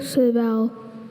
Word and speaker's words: serval: Servil Serval. Could you repeat both pronunciations? Serville.